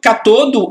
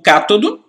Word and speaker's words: cátodo: O negativo é o catodo ou cátodo, certo? E o positivo é o anodo ou ânodo. Isso aí, essa pronúncia aí, para mim não faz diferença nenhuma, não.